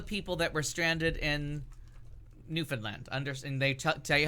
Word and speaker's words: Newfoundland: that was about all the people that were stranded in Newfoundland. And they tell you how to pronounce it. You say understand first, and it should rhyme.